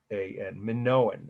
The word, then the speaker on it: Minoan: Minoan. Minoan, it's pronounced.